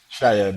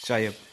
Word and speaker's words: Chaieb: This time I'm here with Kib or Chib. How do you pronounce it? Chib. Yes. Chib.